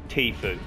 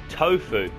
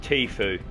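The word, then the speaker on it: Tfue: favorite streamers yeah what what you mean it's pronounced tea food and what did I say tofu oh yeah tofu sack disgusting stuff vegetarians eating it right yeah and the stream is called tea food yeah cool gotcha well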